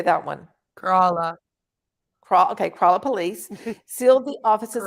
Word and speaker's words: Kerala: Kerala.